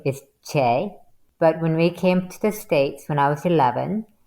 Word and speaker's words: Chae: Well, my Korean name is Chae, but when we came to the States when